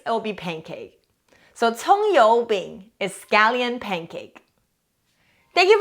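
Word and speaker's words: 葱油饼: chinese the word of the day today is tong yo bing scallion pancake the first character we learned last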